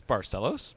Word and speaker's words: Barcellos: It's Barcellos, but close enough. Barcellos. I was There close. you go. I knew that the C was was the S version of that.